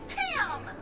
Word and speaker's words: Pam: low bits uh Pam the name is Pam it rhymes with scram right sorry you know